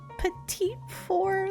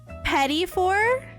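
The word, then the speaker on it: petit four: How do I If it's not petite for then how do I say it? I don't want to say it wrong. No. petty for.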